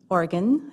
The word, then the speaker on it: Oregon: Oregon I think is how they pronounce it in Oregon.